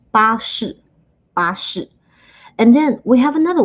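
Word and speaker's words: 巴士: As you can see, the first way is basically a translation of the pronunciation of bus in English. 巴士.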